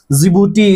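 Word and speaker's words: Djibouti: और डी से क्या होगा? जिबूती। इसको डी साइलेंट रहता है।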